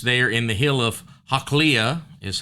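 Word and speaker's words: Hachilah: Saul comes down and he pitches there in the hill of Hakliah, is how you say that in verse number 3, which is before Jeshimon.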